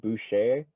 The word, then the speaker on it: Boucher: Anyways, if you're going crunch time with Kyle Lowry, Van Fleet, Siakam, OG, and Boucher, or however you say his name, he just came without onto the R.